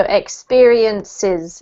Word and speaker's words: experiences: Don't forget when you put S's on the end of words, you need to pronounce them as another syllable. So experiences.